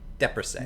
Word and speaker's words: Depressé: It's the Depressé. Depressé. Depressé. Okay. Depressé. Like leprosy, but with a D.